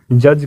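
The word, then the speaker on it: judge: कहते हो आप लोग जज कहते हैं यहां जी से पहले वाला जो दी है ये भी साइलेंट होगा जिसे पहले वाला दी क्या होगा गाइज साइलेंट होगा इसे प्रोनाउंस नहीं करेंगे और हमारा नेक्स्ट शब्द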